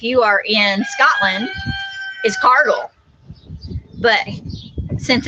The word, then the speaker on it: Cargill: are in scotland is cargill but since it's become a international company it's pronounced that people pronounce it cargill but the correct pronunciation according to the scottish pronunciation is cargill that's how grandpa said